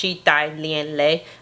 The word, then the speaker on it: Chi Thai Lien Le: pronouncing that right, because I looked it up and I listened to the pronunciation, and it said that it was pronounced Chi Thai Lien Le.